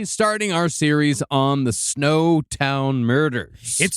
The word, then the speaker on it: Snowtown: We pronounce everything wrong. I thought it'd be snoutton or something and that's why I said that to you and then I wrong. No, it's snow town like it's where all the elves live on